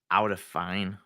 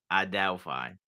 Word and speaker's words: Adelphi: You're ruining my pronunciation by saying it's Aldefine.